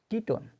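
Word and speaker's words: ketone: এর মত এল ওকে কিটোন কিটোন যেখানে দেখব আমরা সি ও আছে সি ও আছে সেটাকে বলবো আমরা কিটোন আর কিটোনের উচ্চারণ ওন এর মত সবগুলো আমরা আবার ডিটেইলসে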